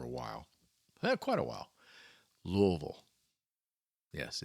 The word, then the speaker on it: Louisville: Louisville. Yes, it's Louisville, not Louisville, not Louisville, Louisville. It's funny when I talk to somebody about Louisville, and they say that,